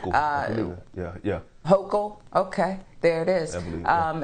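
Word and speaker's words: Hochul: we'll we'll learn her name uh yeah yeah hoco okay there it is um and more people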